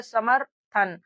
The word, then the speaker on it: समर्थन: अब देखिए इस शब्द को हम लोग पढ़े समर्थन। तो यहां पर देखिए सम फिर यहां पर म के बाद में इस रेफ की मात्रा का उच्चारण र के रूप में निकल रहा है।